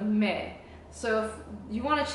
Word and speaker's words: Melike: the first syllable so they call me mik instead of M so it's it's ma instead of me so if you want